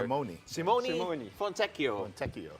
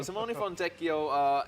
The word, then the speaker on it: Simone Fontecchio: So I'm gonna help everyone out here with the pronunciation because we got a jazz man to be introduced here. Simone Fontecchio. Yeah, so Simone Fontecchio, interesting guy here.